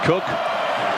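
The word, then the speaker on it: Koch: It's spelled K-O-C-H, but pronounced Cook.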